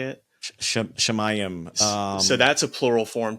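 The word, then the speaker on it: שָׁמַיִם: Like, I know is it Samayim? Is that how you say it? Shemayim.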